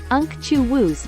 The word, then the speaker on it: unctuous: real individuals May 9 unctuous pronounced UNC chuus meaning used to describe